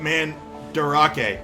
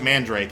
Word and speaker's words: Mandarake: What about Mandarake? I thought it was Mandrake, and I'm like, yes, a real word.